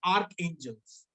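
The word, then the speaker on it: archangels: इट इज आर्क, you right it arch but you pronounce it आर्क एंजल्स।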